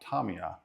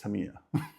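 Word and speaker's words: Tamiya: said the name correctly it's not Tomia it's tamama because I've been saying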